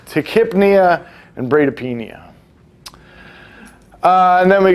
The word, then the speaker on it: tachypnea: The fun one is when we add breathing, the P-N-E-A, pnea, Tachypnea is how that's pronounced. It's not tachypnea.